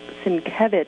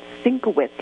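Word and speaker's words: Sienkiewicz: to draw the New Mutants is prev is pronounced svich not sinowitz like I've been saying since I've been 13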